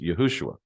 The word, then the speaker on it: Yahushua: And his they say in the beginning of the book that it's actually pronounced Yahushua.